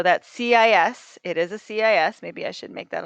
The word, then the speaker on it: cis: i s theta and it's pronounced cis just like that like it's two s's um and that c